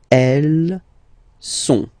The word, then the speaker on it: elles sont: Okay, ils sont, final T not pronounced, ils sont, elles sont.